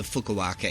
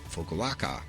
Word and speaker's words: Fukuoka: If your baggage tag says FUK, you are flying to Japan, and more specifically, the Fukuoka airport. Fukuoka, that's fun to say. Fukuoka, say it now.